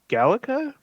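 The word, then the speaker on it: GALECA: uh also in 2021 he received I believe this is pronounced at gallica uh g-a-l-e-c-a it is the Society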